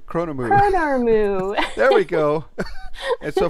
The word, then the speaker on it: Chronormu: the famous bronze dragon, and how do you pronounce that? Oh gosh. Chronomu. Chronormu.